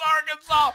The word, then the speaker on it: Arkansas: small town of BB, Arkansas, or Arkansas, and I was like, fuck you, it's Arkansas!